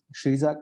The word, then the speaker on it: Xidza: Buena se escribe con B E Diis ni I, Shiza con X I D Z A.